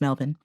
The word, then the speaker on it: Melbourne: a friend of mine taught me that it's pronounced melbourne um uh daniel writes could you please help